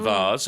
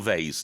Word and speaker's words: vase: 3.99 was the price for the vs or I should say or VES depending on your pronunciation both are okay sure uh yes uh